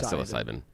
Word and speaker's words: psilocybin: I thought that's how you pronounce it. Psilocybin. Psilocybin. Yeah, psilocybin.